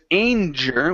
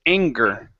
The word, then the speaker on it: anger: um this word here instead of anger with a J sound it's a g sound so it's anger oh okay anger good good